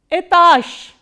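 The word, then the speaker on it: этаж: must be knowing that when a voiced consonant comes in the end, it is pronounced as its voiceless counterpart. So, what is the voiceless counterpart of j? It is sh. So, how will you pronounce this word?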